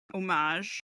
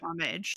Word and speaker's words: homage: had where it's she's paying omage or homage depending on how you pronounce it homage we're fancy